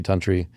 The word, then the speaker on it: Tunteri: Tantry. Spelled not like you would expect. How do you spell? Terry. Tu n T E R I. Pronounced tantry.